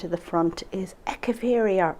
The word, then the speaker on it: Echeveria: at the front is echeveria or echeveria to pronounce it correctly compton carousel now this